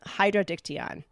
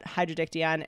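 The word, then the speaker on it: Hydrodictyon: it up and it's actually called hydrodiction I think I'm pronouncing that right Hydro is water diction is nut so water net and of course I'm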